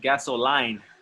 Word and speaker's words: gasoline: This next word, somebody said gasoline. It's gas. Gasoline. Okay. Gasoline. Yes. Again, it's Give me line. gasoline. Line. But it looks like line, but it's lean.